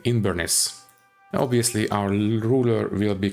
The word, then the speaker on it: Inbhir Nis: be in veress but I decided to use the old gelic pronunciation so we are going to play in inness obviously our ruler will